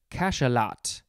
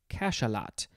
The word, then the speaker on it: cachalot: Next is cachalot. Cachalot.